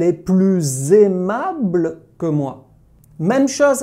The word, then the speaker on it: plus: Tu prononces le S quand le mot « plus » a le sens de « more » en anglais ou de « mère » en allemand.